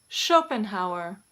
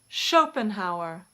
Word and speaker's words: Schopenhauer: Some common surnames that begin with SCH also take this sh pronunciation in English. Schiller, Schiller. Schmidt, Schmidt. Schopenhauer, Schopenhauer.